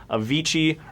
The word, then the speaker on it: Avicii: Avicii rhymes with Cervici.